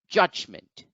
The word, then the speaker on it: judgment: we have the word judgment judgment in the word judgment see that the apostrophe is over the first syllable judge so that gets accented so the word becomes judgment judgment judgment now let's look at